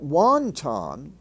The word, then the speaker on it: wonton: As in, but note that wonton, the Chinese soup, is pronounced with its regular short O.